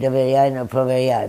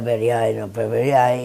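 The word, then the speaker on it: Доверяй, но проверяй: And I said, doveryai, no proveryai. But he never could pronounce it correctly, but he did.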